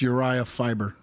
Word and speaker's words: Urijah Faber: Yes, it's Urijah Faber.